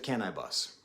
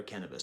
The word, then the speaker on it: Canibus: it really turned was with Canibus okay or cannabis depending on how you want to pronounce it okay I've talked about